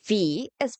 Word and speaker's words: vis: The letter V is pronounced the same as the F in English.